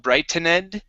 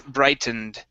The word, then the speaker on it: brightened: it okay and here this word is brightened instead of brighton ed it's brightened right okay good and uh